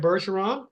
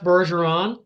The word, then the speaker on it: Bergeron: berson so it's F berson the number two okay just a second now people don't know your French and they don't know that's a soft G so spell your last